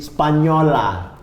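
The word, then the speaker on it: spagnola: Spaknola jadi spanyola.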